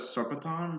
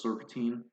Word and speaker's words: Serpentine: oni, a vermilion, and Kalmar pronounces it as Serpenton, but that's like an arrow, so it's Serpentine.